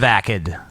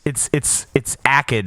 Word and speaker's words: Akkad: It's Akkad, right? That's how it's pronounced. And I don't think there's an I in it. It's a soft G. Akkad.